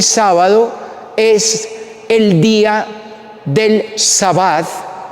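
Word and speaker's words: שבת: ¿Cómo se dice sábado en hebreo? Se dice sabat.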